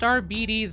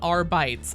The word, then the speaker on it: Arbites: And yes, it is pronounced RBDs, not RBES.